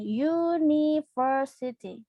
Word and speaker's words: university: Nah, karena University ini kita membacanya menggunakan Y, teman-teman. University. University. Ada bunyi Y ya yang kita baca. Sehingga kita gunakan bukan N.